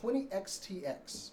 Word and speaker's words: 20XX: It's called 20XTX, but it's spelled out just 20XX. So 20XTX.